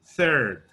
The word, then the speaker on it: third: La pronunciación es third, third, third. Pero estoy haciendo el TH y estoy exagerándolo para que lo vean. Third. No es third, ni third. No, se les puede valer third, pero es third.